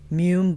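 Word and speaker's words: Mumm: oh another one oh mum Blanc de Blanc so delicious and most people pronounce it mum m u mm not GH Mom it's a different one just m mm California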